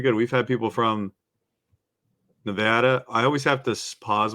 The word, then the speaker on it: Nevada: say it right yeah always say apple Nevada okay yeah Nevada you have because I have a a friend from Nevada who says we have apples not apples at Nevada so it's not Nevada it's Nevada so um